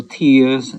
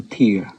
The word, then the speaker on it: tear: My eyes will tears and my dress will tear. My eyes will tear and my dress will tear. Both instances of tear are pronounced differently.